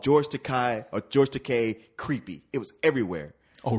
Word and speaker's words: Takei: It's Takei. Look, rhymes with toupee.